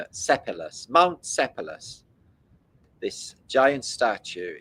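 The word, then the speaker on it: Sipylus: I thought it said Syphilis, but it's Sepulus.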